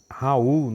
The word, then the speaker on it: Raoult: nós vamos ver a lei de raul né que alguns lotes pronunciar assim então a lei de raul